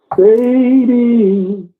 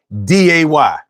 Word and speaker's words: Sade: It's literally pronounced on the poster. Sharday. Literally. It is. Sadie.